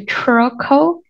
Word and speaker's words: troco: hundred three eyes trocco same thing about the r here troco Croco okay if you can